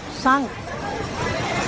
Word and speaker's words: Cinq: Sang. Sang. Ang rolling. C-I-N-Q but it will be pronounced as Sang.